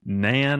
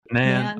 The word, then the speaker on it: Nan: And you say Nan or not Nan? How do you say it? Yeah. Nan. All right. Yeah. It's short for Nancy. Right? Yeah, it's short for Nancy. So it's NAN.